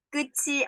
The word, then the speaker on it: 끝이: Jadi di sini peraturan pelafalannya, apabila suku kata berakhiran diget atau tiet, dan diikuti dengan vokal I, maka diget atau tiet itu dilafalkannya dengan J atau C. Jadi jiet atau ciet.